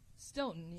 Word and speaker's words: Stoughton: Stoughton. Stoughton.